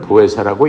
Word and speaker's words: 보혜사: 그 성령님을 보회사라고 읽는 거예요.